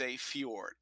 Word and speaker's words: fjord: with a J but in this word the J is pronounced with a Y so it's not for George it's a fjord I hope this has